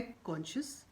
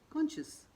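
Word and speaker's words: conscious: अगला शब्द है कॉन्शियस, यानी कि सचेत। कॉन्शियस।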